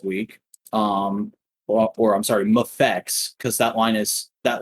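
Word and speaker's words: MAFEX: action figure um so there's a lot of arguments about how to pronounce that thing i i default to mayfix but it is supposed to be mfx anyways uh they revealed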